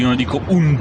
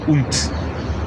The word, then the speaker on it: und: I don't say "unD" to mean "and", I don't say "unD", I say "unT", "unT", "unT", right? It's actually a T at the end of a word.